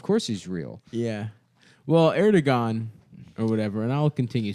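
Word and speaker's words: Erdoğan: Erdogan. Yeah, that's his name. That's how you pronounce it.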